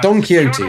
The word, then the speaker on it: Don Quixote: Don Quixote, that's how you say it.